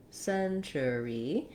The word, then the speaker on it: century: which is the century here we have three syllables century and um letter c says the s sound again there's our red tent vowel like in second and decade letter t says the ch sound so you might write